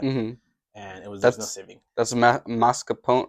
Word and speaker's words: mascarpone: That's mascarpone, right?